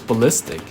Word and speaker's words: ballistic: Yeah, I thought it was pronounced like ball ballistic missile, but it was ballistic. I thought you have to emphasize on the ball, but no.